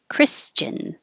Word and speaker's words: Christian: or mature mature mature christian the ti here sounds like a cha christian never had this